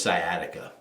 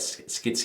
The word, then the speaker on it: sciatica: got this because the most of them can't pronounce sciatica I hear all kinds I got skit I got sikata and stuff like that it's I always whenever